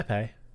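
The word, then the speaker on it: épée: bigger than an epee, if I'm even pronouncing that right. Yeah, epee.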